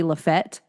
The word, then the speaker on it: Lafayette: Yeah, because he kept saying there's a town in um a town in Tennessee and it's spelled like Lafayette, but it's pronounced locally Lefett.